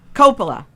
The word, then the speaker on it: Coppola: Coppola.